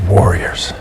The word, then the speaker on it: warriors: far away I need Warriors in the word Warriors the i o r s s is actually pronounced as yours your like as in y e r yours Warriors I need Warriors